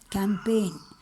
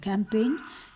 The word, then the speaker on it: campaign: Remember the pronunciation, campaign, G silent, campaign against social injustice.